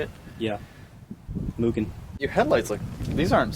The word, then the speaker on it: Mugen: Mugen.